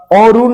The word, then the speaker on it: অরুণ: তো এই অরুণ বানানে দেখেন অ এর পরে কি রয়েছে? রস্যু রয়েছে, তাই কারণে এই অ এর উচ্চারণটা কি হয়ে গেছে? ও হয়ে গেছে। তারপর র, আর এখানে মধ্যাহ্ন কি হয়ে গেছে? দন্তান্ন হয়ে গেছে।